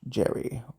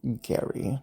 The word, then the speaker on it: Gerry: the individual known as Elbridge Gerry, or Gary, depending on how you particularly pronounce it, it was utilized as